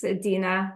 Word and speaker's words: Dina: particular um we have is it Dena or Dina it's Dena I'll send you the